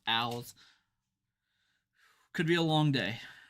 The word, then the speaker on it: Owls: I said Isles. It's Owls.